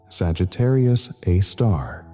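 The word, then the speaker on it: Sagittarius A*: The black hole at the center of our galaxy is called Sagittarius A star, pronounced Sagittarius, a star.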